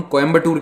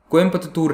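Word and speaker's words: Coimbatore: तो देखिए, जिस शहर को आप और हम कोयम्बटूर कहते हैं, यानी कि उत्तर भारत के लोग जिसे इस तरह से इंग्लिश में पढ़कर कहते हैं कोयम्बटूर, उसका एक्चुअल नाम हमेशा से कोयम्पतूर रहा है। अब कोयम्पतूर थोड़ा सा प्रोनाउंस करने में डिफिकल्ट है, लिखने में भी बहुत लंबा है, तो कुछ लोगों ने सजेस्ट किया कि इसे कोयम्पतूर कर दीजिए, लेकिन फाइनलाइज क्या किया गया है, कोयम्पुतूर।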